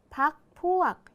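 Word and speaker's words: พรรคพวก: นัก เรียน อ่าน ตาม ครู ด้วย นะ คะ พัก พวก อยู่ ใน แม่ กก ใช่ ไหม คะ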